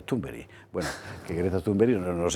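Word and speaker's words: Thunberg: Quiero decir que que personalidades psicopáticas como la de Greta Tumbery, no se que Carlos Esteban nos enseñó que se pronuncia Tumbery, bueno, que Grza Tumberi nos explica sin esto, es decir, es que ha vuelto a la gente local.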